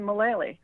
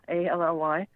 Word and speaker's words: Mullally: last name Mullally, rhymes with Shillelagh, Mullally.